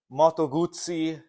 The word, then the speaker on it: Moto Guzzi: at Nova and today we have this uh Moto Guzzi Moto Guzzi matogutsi we got a little bit of flack last time how we pronounced it but I'm I speak Italian I'm